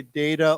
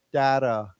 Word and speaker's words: data: I'll remind you this we can say data or or data either either is okay data data either either